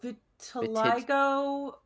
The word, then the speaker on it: vitiligo: How do you pronounce it? oh vitiligo.